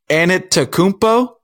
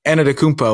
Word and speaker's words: Antetokounmpo: So I think it's Antetokounmpo and just say that quick. Antetokounmpo. And people. Antetokounmpo. Well, see, you're putting a little 2 in there. I think it's just Antetokounmpo.